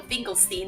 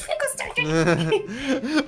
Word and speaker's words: Finkelstein: Finkelstein in the movie, but for some reason in the video games they call him Finkelstein, and I'm like, no, it's Finkelstein.